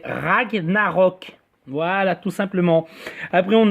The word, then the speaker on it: Ragnarök: Et faut bien prononcer, hein, c'est Ragnarok et pas Ragnarok. Ragnarok, ça ne veut rien dire. Donc j'en ai marre d'entendre les gens dire Ragnarok. C'est Ragnarok.